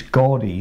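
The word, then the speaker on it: Gorgie: I want to say Jordy it's not Jordy it's Gordy isn't it sorry um for our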